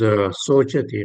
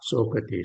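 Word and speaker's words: शोचति: This one is Sochati, not Sokati, Sochati. Sochati. Okay. Yeah. All right. Yeah, Mataji, here in Bhagavad Gita, when you see any scripture, see Mm-hmm. pronounce as Mm-hmm. cha. Prasannatma. Okay. Na Sochati. Okay. Sochati. We pronounce as cha, not sa.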